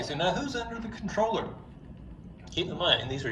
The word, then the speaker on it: comptroller: And in fact, the word is a French term, Comptroller, but it's pronounced controller, and so we have just anglicized it, and we call it the controller.